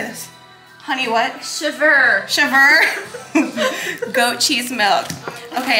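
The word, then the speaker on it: chèvre: Chevre.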